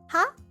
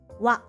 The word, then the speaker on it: は: Oh, and actually this hiragana is ha, but when it's used as a particle, it's pronounced W.